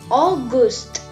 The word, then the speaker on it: August: We have to pronounce it as August.